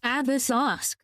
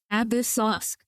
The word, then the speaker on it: Ad Astra Abyssosque: It's not applesauce, it's Abyssosque. Abyssosque. Like abyss.